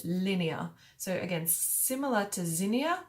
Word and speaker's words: Linnea: And this one, instead of with the I-A at the end, it's spelled L-I-N-N-E-A, Linnea. I guess it sounds a bit like linear, like in a line, but if you're all right with that, you know, cool.